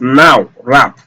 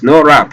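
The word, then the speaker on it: nowrap: Now, it's just like written as now wrap, but it's not actually now wrap. Okay, it's no wrap because that W is silent.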